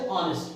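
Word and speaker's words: honest: तो हा जो है वो ओ के पहले आता है ओ क्या है बोल है आपका ठीक है स्वर है वावेल ओ के पहले जब भी हा आता है तो हा का प्रनंसीएशन नहीं करते हैं जैसे ऑनेस्ट ऑनेस्ट यानी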